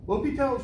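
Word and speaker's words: L'Hôpital: do is called l'hopital's rule not the hospital's pronounced lopi casual lopital tool is a very nice tool it's super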